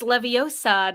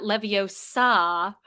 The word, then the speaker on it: Leviosa: It's Leviosa, not Leviosa. Thanks, Hermione. Number 4. Despite many people who pronounce it differently, Steve Wilhite, the creator of